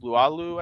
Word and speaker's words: Laulu: Let me go through it, as well as Isaiah Perez and Justice Lualu, I think is how you say it. Yeah. Laulu.